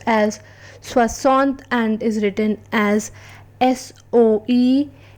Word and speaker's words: soixante: 60, which is pronounced as Soixante and is written as SOEXRNTA.